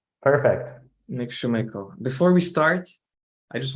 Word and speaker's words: Nik Sumeiko: name is Dennis and today with me is Nick Shoemaker uh Nick welcome hi Dennis did I did I get the pronunciation correct perfect Nick Schumacher before we start I just want to acknowledge